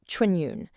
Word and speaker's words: 春运: That's pronounced Chūnyùn.